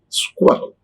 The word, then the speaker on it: squirrel: S-C-S-Q-U-I-R-R-E-L. That is squirrel. Squirrel. Square. Squirrel.